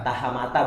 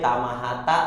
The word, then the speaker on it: Tahamata: Tahamata bener ya? Simon Tahamata. Suka kebalik gue Tamahata. Iya, Tahamata emang.